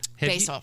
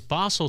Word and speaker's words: Basel: you said basil right basil basil I mean no it's what people are doing it's bosel Switzerland but it's basil the the spice Basel England yeah it's